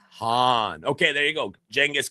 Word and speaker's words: Khan: Uh, pronounce Han with a breathy H instead of a hard K. Khan. Han.